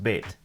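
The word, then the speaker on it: בית: In Hebrew, it's bayit, but when it's used in a compound word with another noun, it's pronounced beit, like in Beit Sefer, the word for school.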